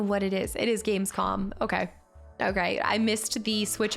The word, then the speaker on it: Gamescom: It's weird, but it ends in M. Gamescom. Oh, it ends in M, so I am saying it wrong. It's Gamescom, not con.